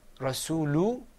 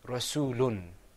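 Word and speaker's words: رَسُولٌ: gonna say muhammadun and instead of saying rasulu you're gonna say rasool hoon you guys think you've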